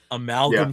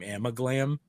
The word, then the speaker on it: Amalgam: So, Amalgam Comics became Amiglam.